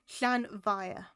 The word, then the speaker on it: Llanfair: Think of the, instead of it being fire, think of the F to be a V. Llanfair.